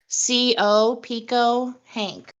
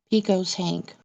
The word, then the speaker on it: Pecos Hank: It's spelled P-E-C-O, Pico Hank. Okay, that's simple enough. Yeah. Or wait, I think it's Pecos. My bad. Pecos Hank.